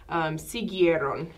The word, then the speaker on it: siguieron: And you have three vowels in a row, and that's okay because that U actually isn't pronounced.